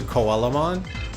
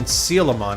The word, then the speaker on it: Coelamon: My brain still wants to default to Coelamon. But even when you look at the Japanese pronunciation, it's Shielamon, as in Sealamon, as the Coelacanth.